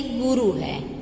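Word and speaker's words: गुरुः: जैसे कि गुरु है, उसके पीछे विसर्ग है, तो उसको हम बोलेंगे गुरुहु।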